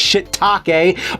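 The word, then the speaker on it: shiitake: of History I know what it is it's shitake but it's spelled take this game looks like the glitch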